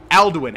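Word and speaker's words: Alduin: oh my God it's it's andwin and then it's aldwin aldwin yeah they always screw me up because we played so much of Hearth uh Hearthstone aldwin we've killed aldwin the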